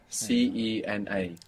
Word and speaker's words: cena: Lego transfer tracks 4748 the dinner in Spanish is La Sena spelled c-e-n-a La Sena La Cena those in Spain will pronounce the dinner now to dine which